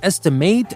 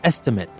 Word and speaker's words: estimate: might have noticed that i'm saying estimate and estimate and that is because the pronunciation is different when i use estimate as a verb i say estimate but when i use estimate as a noun like when you say